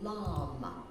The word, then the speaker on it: LAM: We say the syllable LAM, L-A-M.